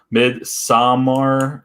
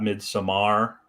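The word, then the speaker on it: Midsommar: third as one does mid samar it's swedish not mid samar there you go you're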